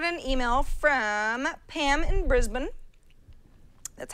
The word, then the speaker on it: Brisbane: So we got an email from Pam in Brisbane. That's how they say it down there. Brisbane.